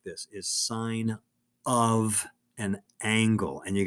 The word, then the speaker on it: sine: like this out loud don't say sin sin is not a bad word okay but it sounds like you don't know what you're talking about nobody who has learned